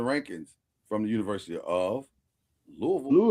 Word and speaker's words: Louisville: Well, why they say Louisville Slugger? Because they say it wrong. It's not Louisville Slugger. The Louisville slugger. Louisville. You can always tell when somebody's from out of town when they come